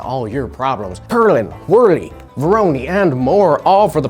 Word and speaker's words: Voronoi: Next is Voronoi or Voronoy. I'm actually not sure how to pronounce that. Voronoy. That's how you do it.